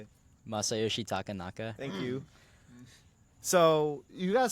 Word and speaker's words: Masayoshi Takanaka: And then there was another one Joey had mentioned that's a Japanese, I'm going to butcher the name. How do you say it? Masayoshi Takanaka.